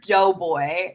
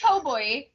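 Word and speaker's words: Toboe: Kiba, Toboy, which I heard because I heard Doughboy. That's what I was like hearing, and I was like, that can't possibly be right. Doughboy. I'm like, what? It's Toboy. Toboy. It's the way they pronounce it.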